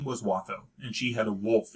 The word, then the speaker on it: Watho: So I pronounce it Watho. I say it Watho!